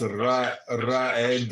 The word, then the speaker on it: Reed: Reed. It is pronounced Raed.